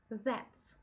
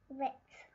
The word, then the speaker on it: that's: Итак, мы с вами будем произносить звук З, только язычок мы с вами поставим между зубками. З. З. З. З. That's. That's.